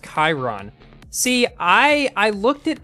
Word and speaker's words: Chiron: people fighting over sheeran or sharon it's actually pronounced chiron see i i looked it up and the